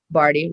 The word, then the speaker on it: Bardhi: so barty last name barty rhymes with party but not spelled that way b-a-r-d-h-i is my